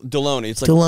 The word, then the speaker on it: Delony: Delano here's the deal deloney it rhymes with the baloney except with the D yeah it was a